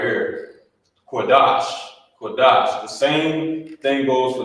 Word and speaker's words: Qadash: You wouldn't say Qadasha because of this connector. These connectors, like I said, they combine two of the characters together, and you will pronounce it as such. You will pronounce it the same way. So, like it was combined. So instead of saying the Shah, Qadasha, it's connected at the bottom. You say Qadash.